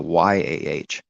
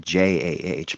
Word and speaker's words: Yah: But why is it JAH? Because that's what it should be. It should be YAH, but there it is, Yah, right there.